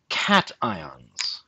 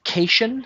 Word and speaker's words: cation: complicated now and then positive ones are called cat ions and negative ones are called anions i have heard this particular word pronounced casen especially by those with a french background but